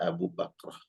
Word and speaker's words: Abu Bakrah: Jadi ada Abu Bakar, sahabat Nabi, ada Abu Bakrah. Abu Bakrah ini laki-laki, walaupun huruf terakhir namanya Ha, Bakrah.